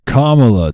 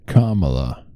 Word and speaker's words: Kamala: now it's time for Kamala to shine and for all of us to learn how to say her name I think I said it right Kamala not Kamala Kamala get with the